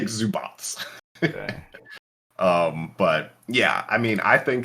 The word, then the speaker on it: Zubac: Yeah, his name is said like it's spelled Zubats. It's like Zubats.